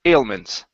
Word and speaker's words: ailments: have the word ailments so it's a long a at the beginning instead of L it's a Al ailments ailments okay very nice